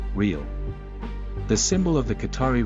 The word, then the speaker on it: riyal: The dollar of Qatar, the currency of Qatar is the Qatari riyal and the pronunciation is the same as the Brazilian currency, riyal.